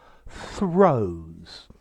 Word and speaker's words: throes: hi there students throws okay it sounds exactly like to throw but it's spelt differently okay throws is a noun